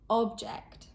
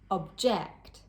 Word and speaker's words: object: As a general rule, with 2-syllable nouns, the stress is placed on the first syllable. Content, contract, object, record. And with 2-syllable verbs or adjectives, the stress is usually placed on the second syllable.